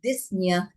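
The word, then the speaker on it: dyspnea: It's not only cough that results from passage of the larvi into the lungs but disna or difficult breathing. We do not um um pronounce the p.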